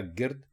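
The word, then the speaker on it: گَرد: और इसी हिज्जे के साथ अगर आप ये लफ्ज़ लिखें और इसमें गाफ के ऊपर ज़बर लगा दें, तो ये बन जाता है गर्द।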